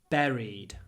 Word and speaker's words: buried: next to his wife buried it's an E I know it's weird we write U but we say and you can say